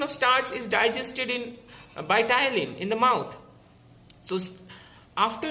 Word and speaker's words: ptyalin: Ptyalin, P is silent, P-T-Y-A-L-I-N, ptyalin, which converts the starch into disaccharides, the maltose.